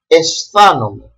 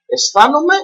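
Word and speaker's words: αἰσθάνομαι: So they are pronounced together E, like Erasmus. One word that starts with this combination and finishes with this letter combination as well is the word aisthanomai.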